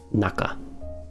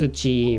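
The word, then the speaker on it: 中: that means inside and it's pronounced that way as naka right sometimes it's pronounced uchi or chu or whatever anyway let's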